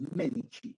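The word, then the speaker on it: Medici: el Duche en italiano Cuando tú veas la letra c esa c se pronuncia como Che ent por eso se pronuncia los medichi bien gó entonces Fran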